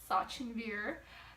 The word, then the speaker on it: Sachinvir: prices though first and foremost my name is Sachi beer and a lot of people refuse to say that refuse to pronounce it even if I teach them correctly